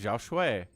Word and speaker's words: Xiaoshuai: Is it Xiaoshuai or Xiao... I guess Shui? Shui. Xiaoshuai. Bottom right, Protoss player Stork. Korean, top left, Chinese Zerg. It's Xiaoshuai.